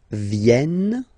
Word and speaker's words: viennent: Ils viennent, so remember this classic ending ENT for the third person of the plural is here, but phonetically it doesn't exist, so you don't pronounce it.